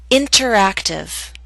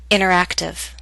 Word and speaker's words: interactive: I'll first read the word with careful pronunciation. You will hear the pronunciation of T. Then I'll repeat the word with fast informal pronunciation. You will not hear the T.